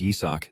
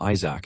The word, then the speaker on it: Yach: king ISAC even though his name is yach these guys always pronounce it wrong and call him Isaac instead either way while he enjoyed